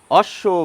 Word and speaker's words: অশ্ব: কি কেউ বলছি অশ্ব আমরা এই ব এর উচ্চারণ করছি না আমরা বিশ্বব বলছি না এই ব এর উচ্চারণ করছি না আমরা সবাদ বলছি না আমরা বলি অশ্ব বিশ্ব সাদ সরস্বতী শ্বাস